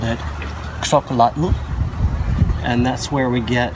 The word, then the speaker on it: xocolatl: and they called it xocolatl, and that's where we get the word chocolate from, is from the Mayan or Quechua word xocolatl, and it sounds very similar to chocolate.